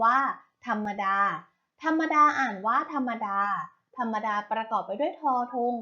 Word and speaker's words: ธรรมดา: นะ คะ คำ ว่า ธรรมดา ธรรมดา อ่าน ว่า ธรรมดา ธรรมดา ประกอบ ไป ด้วย ทอทง รอ หัน มอ